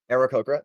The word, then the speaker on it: Aarakocra: Owens, Paloma, the 3-foot-tall gray plumaged, is it pronounced Rhea, Anna? Am I saying that right? Yeah. Rhea, Aarakocra, thank you.